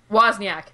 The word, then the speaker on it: Wozniak: How do you pronounce his last name, Catherine? Wozniak.